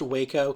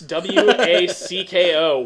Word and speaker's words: Wacko: uh in the future so the show's called wacko okay it's pronounced waco commons no it's w-a-c-k-o wacko and it is actually and i called